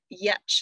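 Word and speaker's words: Giertz: there is a woman simone yetch is how you say her last name but it's spelt g-i-e-r-t-z simone yetch she is a engineer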